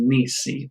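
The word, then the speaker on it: nisi: very recently which is Niecy Niecy is how you say if not okay so this is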